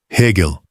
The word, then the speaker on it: Hegel: Hegel, com G duro.